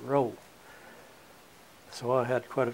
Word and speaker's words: Rowe: it was my name I said that's pronounce that roow so I had quite